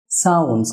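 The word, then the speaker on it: sounds: সাউন্ডস না হয়ে হবে সাউন্ডস, কারণ আমরা জানি দুটি কনসোনেন্টের মাঝে যদি টি বা ডি আসে তাহলে ওই টি বা ডি সাইলেন্ট হয়ে যায়, সুতরাং এটা হবে সাউন্ডস।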